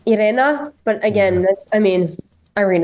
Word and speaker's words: Irena: pronounce it is it Arena vow Arena orena vow I think it's arena for English and and I would say Irena but again I mean